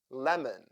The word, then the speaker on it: lemon: o o o carrot lemon the second syllable here is also un stressed and that is why o sounds like o therefore o o o o lemon U as sound like